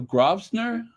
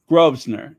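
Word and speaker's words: Grosvenor: that the Duke of grosner the Duke of grosner grovner okay grovner okay so yes the seventh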